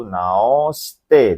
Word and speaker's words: 直して: Oke, kita jawab ya minasang, yaitu jawabannya adalah nomor kanji bacanya itu nomor 4 yombang, yaitu naoshite desu ne. Hai, jadi itu bacanya kanji naoshite.